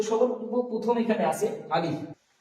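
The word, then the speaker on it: ألف: হবে আলিফ এবং দুটো ঠুট হালকা ফাঁকা থাকবে একটা বাতাস বেরিয়ে আসবে হালকাভাবে আলিফ আলিফ আলিফ যেমনটা একটা বাতাস বের হচ্ছে যেন দুটো ঠুট একসাথে হয়ে না যায় আলিফ এরকম যেন না হয়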